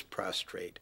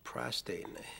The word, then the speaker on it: prostate: with that exam one of the most common mispronunciations of a word is prostrate and uh david milch being as clever as